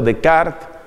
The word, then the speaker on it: Descartes: Por otra parte, hay otros filósofos, entre los cuales uno podría citar a un Descartes, mejor pronunciado Decart, o un Kant, que